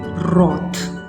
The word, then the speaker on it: wrath: ओ, हम इसको ओ करके पढ़ेंगे, और TH की साउंड में आपको सिखा चुकी हूँ, थ, तो इसे हम पढ़ेंगे रॉथ, रॉथ, रॉथ, जिसका मतलब होता है कहर या गुस्सा, शदीद किस्म का।